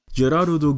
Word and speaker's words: Gerard: Gerardo gehört zur Elitegarde oder Schutzstaffel von Yuvach und ist das Herz des Soul Kings. Sein Name wird Gerard geschrieben, aber wird im japanischen Gerardo ausgesprochen oder Gerardo Valkyrie.